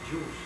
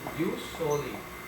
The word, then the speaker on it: jus soli: We do not pronounce this as Jews, no? But use, why? Use solely.